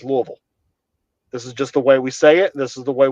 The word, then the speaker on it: Louisville: If you say Louisville or Lewisville, you ain't from here. There are very specific ways we say things. And that's just two examples. You know, it's Versailles and it's Louisville.